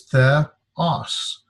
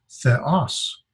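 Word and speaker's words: θεός: And then this is theta, eta, and we would separate the 2 vowels because they're not diphthongs. And so this is theos. The accent is over here in the second syllable, so it's theos.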